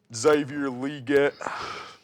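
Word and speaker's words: Xavier Legette: Carolina trades up to 32 to draft Xavier Leggett. That's how you say it, according to him. Xavier Leggett.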